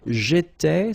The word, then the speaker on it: étais: J'étais, so final S not pronounced.